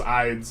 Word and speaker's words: Ides: I know it's pronounced Ides.